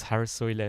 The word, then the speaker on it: Haar: I'm also just amazed how you pronounce Haar so correctly. It's I'm Dutch, so yeah, Haar Where are you from?